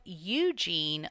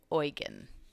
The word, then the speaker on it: Eugene: of Muslim power Pope Eugene launched the Second Crusade and if we want to be really technical it's probably pronounced oygen like the First Crusade